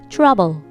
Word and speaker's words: trouble: difference here this is b sound lips together trouble trouble but this is v